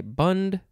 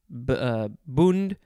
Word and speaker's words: bund: bund this is oh you could say bund boond bunt few words a few